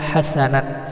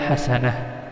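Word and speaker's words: حسنة: Saat bertemu dengan ta marbutoh, ta itu berubah menjadi huruf ha. Ta berubah menjadi ha, sekarang titiknya ini hilang. Maka saat diwakafkan bacanya gini, hadhihi dunya hasanah. Jangan dibaca hadhihi dunya hasanat, salah ya. Tetapi yang benar hadhihi dunya hasanah.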